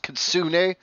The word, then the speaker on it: kitsune: They're pronounced kitsune, is what the nine-tailed fox is called.